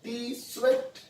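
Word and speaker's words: Tsvet: Developed by scientist है टी स्वेट। आप टी को साइलेंट भी कर सकते हो, सिर्फ स्वेट बोल सकते हो, या फिर टी स्वेट भी बोल सकते हो।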